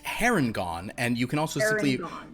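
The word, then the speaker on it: Harengon: do you say it I believe it is pronounced herringon and you can also simply refer to it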